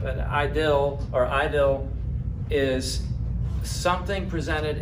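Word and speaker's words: idyll: I D L II although it's pronounced like that but idle or idle is something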